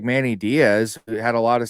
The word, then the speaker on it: Manny Diaz: Yeah, it's Manny Diaz.